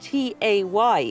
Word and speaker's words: tay: of tea now now tay is spelled t-a-y in yola tay and instead of saying